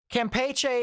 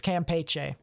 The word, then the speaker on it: Campeche: Campeche is Spanish, so we're rolling with the Spanish pronunciation and not the American pronunciation, because Americans tend to do whatever they want for the most part. I'm going to try and be nationally correct here. And in this instance, it's Campeche instead of Campeche.